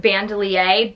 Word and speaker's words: Bandoulière: got the louis vuitton speedy bandolier 30. i believe that's how you say it i've also heard it said um bandelier but basically what that